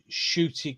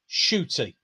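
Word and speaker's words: Ncuti: i have his name hiding his name is pronounced as shooty got one shooty okay cool i didn't know clearly because i've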